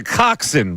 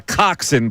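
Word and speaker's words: coxswain: In what sport does a coxin participate in? Oh, boy. Now, that's spelled C O X S W A I N. I'm going to What sport does a coxin participate in?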